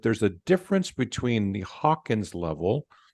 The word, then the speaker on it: Hawkins: thing because it is the consciousness level on the Hawkin scale that's the proper way to say it um you know but then you know people you know use it as Hawkins level also and I I do that too so it's interchangeably it is all the